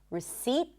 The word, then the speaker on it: receipt: There is a T, but there is no P. Receipt.